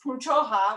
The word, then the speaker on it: Punchoha: And that's when they started to piece together, there are these relatives, Punchoha was how you pronounced our name.